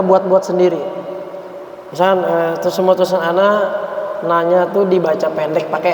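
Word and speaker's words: أنا: Makanannya dibaca tapi kalau kita napasnya habis makanannya terbaca panjang. An anziru annahu la ilaha illa ana. Panjang dia kalau kita waqafkan. Illa ana fattaqun. Misalkan kalau kita sambung atau kita wasolkan maka dia dibaca pendek lagi.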